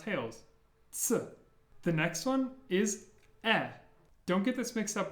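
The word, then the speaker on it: Э: sound at the beginning it's just e e like in better e and the way I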